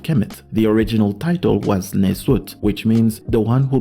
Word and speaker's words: nswt: the term nswt on the screen this is pronounced nizut this is the original title of the Pharaohs